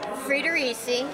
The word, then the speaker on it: Friedericy: that's what's so hard about okay speaking of pronouncing let's say this Bonita what say that say that frederi frederi there you go see I'll scw it